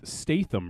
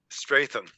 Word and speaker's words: Statham: it Stars Jason stath Statham Raven Shadow how do you say his last name Stratham Stratham there's there's no R in there well I'm I'm saying